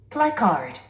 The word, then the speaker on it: placard: Placard. Placard. 우리 한국 사람들은 이 단어를 플랑카드, 플랭카드라고 합니다.